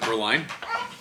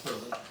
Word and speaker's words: Berlin: Oh, you were trying to learn rhyme with Berlin. Is it Berlin? No, it's Berlin.